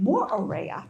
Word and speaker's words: Moorea: And they say every vowel. So when you're saying a word like Moorea, you would say Moorea because that's how they say it.